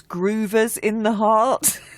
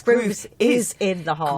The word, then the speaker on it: Groove Is in the Heart: I just have to say, actually, I thought it was Groovers in the Heart. Have I said it wrong? No, you said it right. It's Groove is in the Heart.